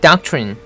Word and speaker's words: doctrine: 발음은 doctrine, DOC 발음은 doc이라고 하면 되고요. TR은 이래죠. 끝에 있는 린은 린이라고 할 필요 없습니다. 른, 이 정도 하면 됩니다. 른. 그래서 다 합쳐서 얘기하면 doctrine 이 되는 거죠.